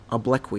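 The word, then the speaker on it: obloquy: O B L O Q U Y OI oblqui is the pron correct pronunciation.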